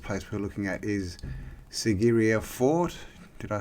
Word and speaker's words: Sigiriya: now the first place we're looking at is sigiriya fort did i say that right before sigiriya which means lion rock so it's pronounced sigiriya yep it's an ancient rock fortress located in